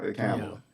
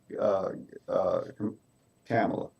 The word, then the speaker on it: Kamala: But it's spelled like Kamala, so maybe I need to say Yeah. Kamala. Sounds like my mother's name similar because my mother's name was Pamela. So I'm gonna say uh, Kamala.